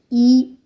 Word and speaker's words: I: Letter I is pronounced E in French.